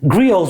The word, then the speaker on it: griot: literally means blood and some people call it the griot it's kind of like how this platform spells its name but with a t right and it's not a griot it's not a g